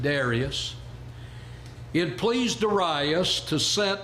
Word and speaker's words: Darius: In chapter 6, we read, it pleased Darius, now the young people today pronounce it Darius, it pleased Darius to